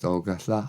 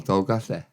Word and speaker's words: Dolgellau: Pronounced Dolgellau or Dolgellau.